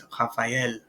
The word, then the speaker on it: Raphaël: The tréma, this will cause us to pronounce the E essentially. So rather than without the tréma, it would be Raphaël, but it's Raphaël.